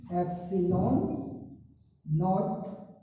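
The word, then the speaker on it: ε₀: तो यहां पर जो हमने यूज किया इसको मैं लिख देता हूं कि आप कैसे प्रोनाउंस करेंगे, एप्सिलॉन नॉट, इस तरीके से आप इसको प्रोनाउंस करेंगे, एप्सिलॉन नॉट।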